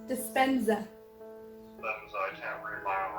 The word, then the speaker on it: Dispenza: So, we were gonna talk about the doctor, how do you say it, Disparza? Dispenza.